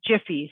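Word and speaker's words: Giphy: We use Jiffy, so G-I, how do you spell that one?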